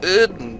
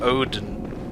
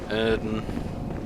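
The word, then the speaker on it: Oedon: mean tells you that it's pronounced erden Chapel instead of OD Odin Odin chapel erden chapel yeah that's fine erden rather than Oden he was pretty close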